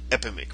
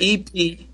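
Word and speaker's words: Epidemik: I wrote Epidemic, and I said that don't sound right, and it's spelled with a K at the end. Spell it for me, man. EK. Epidemek. There you go.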